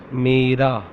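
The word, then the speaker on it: میرا: मेरा, MERA, मेरा.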